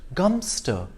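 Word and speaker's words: Godmanchester: a place that is spelled god manchester is pronounced gumster if you visit london's second largest garden square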